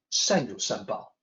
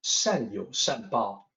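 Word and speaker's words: 善有善报: First of all, the pronunciation, 善有善报. And I want to note here that the YOU in pinyin, that looks like you, but it's actually yo in pinyin.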